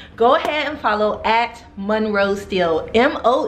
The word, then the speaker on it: Monroe: ahead and follow act Monroe still mo n ro e ste le yes for some reason a lot of you spell my name wrong M you know it's mo like Marilyn alright guys check back